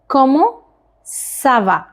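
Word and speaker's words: comment ça va: doing good good and now next word is कमो सवा कमो सा वा कमो सवा रिपीट आफ्टर मी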